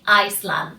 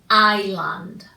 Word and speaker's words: island: we will say Islam be very careful because Island is written with her nest but this earth is not pronounced you don't say Iceland no no no no you say Island okay that s is